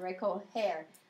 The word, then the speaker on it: recoger: So like even in the yo form in the indicative, it's got to change to a J to maintain that soft G sound. Recoger.